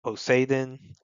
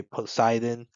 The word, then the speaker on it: Poseidon: for Mermaid Princess is Poseidon, which that's how they pronounce it in Japanese within One Piece. I know in English we would say Poseidon, but well, at least I mean I haven't watched the dub.